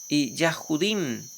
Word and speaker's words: Yahjudim: es Yahjud Juda yahjudim. Para decir judíos no se dice judíos, se dice Yahjudim porque es el eh descendientes de Yahjudá.